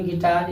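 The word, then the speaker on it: guitar: इसको इसी तरह पढ़ेंगे गिटार, इसको इसी तरह पढ़ेंगे गार्ड। और भी साइलेंट नहीं होता है, भी साइलेंट नहीं होता है।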